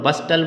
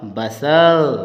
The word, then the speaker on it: bustle: देखते हो आप BUSTLE, तो आप इसको हस्टल और बस्टल बोलते हो, है ना, लेकिन ये हस्टल बस्टल नहीं होता मेरे मित्रों, ये होता है हसल, हसल और बसल।